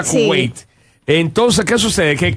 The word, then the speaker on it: Kuwait: Pero sí, se pronuncia Kuwait.